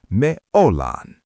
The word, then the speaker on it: ollaan: We use the we word, me, but we use a verb ending that sounds like lan. We are becomes me ollaan.